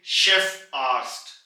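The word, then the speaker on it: Chefarzt: Saint है यहां पे मगर जब आप सी के साथ ए को लगा देंगे यानी कि जर्मन हा को लगा देंगे तो इसकी आवाज शीन में कन्वर्ट हो जाएगी यानी के शेफ आस्ट शेफ आस्ट head physician को कहते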